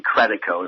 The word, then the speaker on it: Credico: A lot of people say in Credico, it's Credico, even though it's the bastardized version from my great-grandparents who came here from Italy in 1897. But it's actually Credico is the way we pronounce it here, Randy Credico.